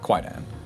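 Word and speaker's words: Kwaidan: up the pronunciation cuz I think it's technically Kaidan, but like Quaidan. A lot of people know it as for the spelling uh K W AI D-N, right?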